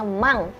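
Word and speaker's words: 万: Per puluhan ribu itu kita bacanya mang.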